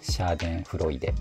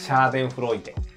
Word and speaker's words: Schadenfreude: Shahken Fridate ? C'est Schadenfreude. Schadenfreude Vous avez entendu le mot, n'est-ce pas ?